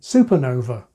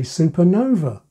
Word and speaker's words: supernova: superintendent subcontractor but subcontinent there are even words that are pronounced both ways some say supernova some say supernova and yes many say